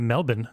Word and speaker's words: Melbourne: at the University of Mell-bin talking about your intrusive R. Mell-bin. Yep. Mell-bin. University of Mell-bin. Melbourne. It's non-rhotic, meaning we only pronounce the letter R when it's followed by a vowel.